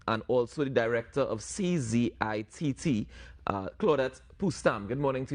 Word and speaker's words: CZITT: And the CZITT you mentioned is pronounced CZIT, and it means the Carbon Zero Institute of Trinidad and Tobago.